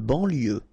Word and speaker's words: banlieue: De banlieue. Okay, final E not pronounced, so I-E-U, I-E, L, lieu, banlieue, de banlieue.